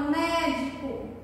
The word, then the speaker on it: médico: Olha só, eu tenho a palavra médico. Qual é a sílaba mais forte? Médico. O mé.